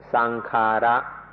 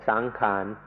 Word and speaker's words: sankhara: Pali word, which is sankhara. Thais make it a little easier to pronounce and say sankhan. But in English books it will be spelled out sankhara.